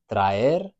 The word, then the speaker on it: traer: In the verb traer, the A and the E, we just hear A, E. traer. So Spanish just has those